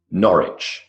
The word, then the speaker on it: Norwich: The answers are Connecticut, Tucson, Greenwich, Cologne, Seoul, Delhi, and Norwich. So the C in Connecticut, for example, simply it's there, but it's not pronounced. The W in Norwich, not pronounced at all.